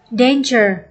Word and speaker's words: danger: Và câu D, danger, nhấn âm 1.